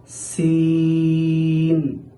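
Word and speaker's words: سين: তবে সিনের ক্ষেত্রে অতিরিক্ত একটা আওয়াজ বের হবে, চড়ুই পাখির ন্যায় চিকচিক একটা আওয়াজ বের হবে, সিন। এখানে যেন অনেকেই সিন সিন এরকম শব্দ উচ্চারণ করেন, সেটা যেন না হয় খেয়াল রাখতে হবে।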